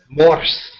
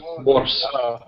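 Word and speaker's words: морс: And also, I'm drinking Morse, a cranberry drink that they put a bunch of other berries in, and is the perfect accompaniment to vodka.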